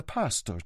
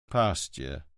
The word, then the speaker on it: pasture: and had suggested the story about the pastor to him." "Pasture," Montalbano patiently corrected her.